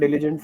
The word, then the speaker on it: diligent: The one thing where I feel you can improve slightly is your pronunciation. Okay, so can you say the Okay, word sir. diligent for me once?